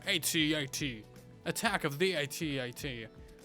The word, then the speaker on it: AT-AT: Is it pronounced at or at-at? It's an at-at. No one says at. You may as well say a tat. Like, come on. It's at-at. It sounds so much cooler.